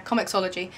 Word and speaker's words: comiXology: That's that is how it's pronounced. Yeah, Comicsology.